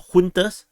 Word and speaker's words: junta: to the junta, or juntas. Some people keep insisting, but in English it's pronounced as junta. You can't change my mind about it. Google Translate tells me so.